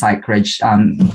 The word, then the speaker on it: Psychreg: Yes, and first I have to congratulate you, Richard, because not a lot of people would be able to pronounce Psychreg right straight away. So Psychreg is a digital publication that focuses on psychology, mental health, and wellness.